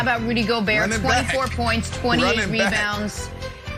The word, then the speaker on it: Gobert: Also, guys, important to note, fun fact, in French, Rudy Gobert is pronounced Rudy Gobert.